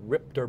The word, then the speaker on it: RIPTA: You spell it R-I-P-T-A, but you say it Ripter here in Rhode Island.